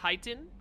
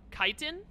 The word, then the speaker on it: chitin: It said like chitin. Chitin? Oh, so it's chitin. It's not, the CH isn't pronounced as like chit. It's pronounced like just a K. Like the H shouldn't even be there.